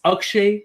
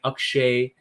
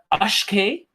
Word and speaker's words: Akshay: there's some stories behind akshay uh the most mispronunciation of my name most common mispronunciation of my name is uh ashke you know ashkay that's what i get a lot now in middle school